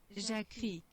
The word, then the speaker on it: Jacquerie: Jacquerie, Jacquerie. Jacquerie, Completamente desnecessário, né? Mas enfim. Os conflitos dos Jacquerie, denominados, né?